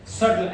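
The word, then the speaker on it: subtle: है इसी तरह से सटल एस यू बीटी एल सटल एस यू बीटी एल सटल सटल में भी मेरा बस साइलेंट है डे वी हैव सीन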